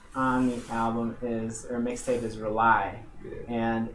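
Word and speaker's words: Relie: The first on the album mixtape is Rely, and it's spelled R-E-L-I-E.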